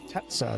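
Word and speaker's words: Xantezza: We have the moon and then Zantetsa, the god of the imps. Tetsa is the way the game pronounces it.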